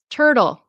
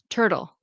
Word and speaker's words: turtle: your pronunciation of literally turtle. So, it's tur tur and it's going to be like a d sound d a fast du turtle. Turtle.